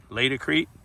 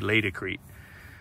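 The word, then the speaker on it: Laticrete: made by Lady Creek latercrete that's how you pronounce it sales rep told me lay decrete all right this is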